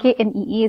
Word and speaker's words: knee: K-N-E-E is knee. K is silent.